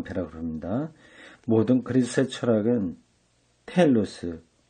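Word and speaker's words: telos: 모든 그리스의 철학은 텔로스, 번역으로는 테로스라고 되어 있는데 T-E-L-O-S, 테로스라기보다도 텔로스, 그렇게 발음하는 게 좋습니다.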